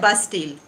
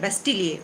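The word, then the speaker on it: Bastille: इसको कहा जाता है बास्टील। अब इसको आप बास्टील कह सकते हैं, बेस्टील कह सकते हैं, लेकिन अगर आप फ्रेंच इसका प्रोनाउंसिएशन पूछेंगे तो वो है बेस्टिलिए, उसको बोलते हैं बास्टिलिए। तो ये क्या है, इस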